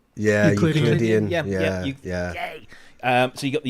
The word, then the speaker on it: Euclidean: How do you pronounce that? Euclidean? Euclidean.